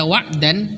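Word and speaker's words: وَعْدًا: Jadi prosesnya ketika kita waqaf pada kata wa'dan, tanwin fathahnya dihapus, kemudian alif yang berdiri setelah huruf dal itu difungsikan, sehingga bacanya seperti ini. Wa yuqataluna wa'da. Dibaca 2 harokat.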